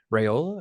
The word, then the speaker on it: Raiola: Dylan Raiola, is that how you say it?